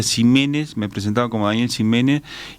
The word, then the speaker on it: Ximénez: Usted eh Daniel Jiménez, aclaremos, es con X, es con X, pero se pronuncia J.